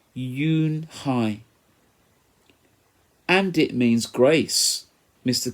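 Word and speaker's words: Unhei: Kim then turned to Joey she nodded slowly yes it's pronounced Eun Hye and it means grace mr.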